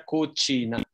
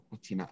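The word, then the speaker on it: cucina: Jadi harusnya kucina. Oh, kucina. Oh, oke. Ya. Jadi yang pertama kayak K ya. Baru C yang kedua itu C.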